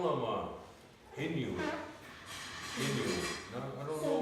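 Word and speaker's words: Inuit: it they say Inu everybody always call him Eskimo but that's not right it's Inu for us in our language really have a name like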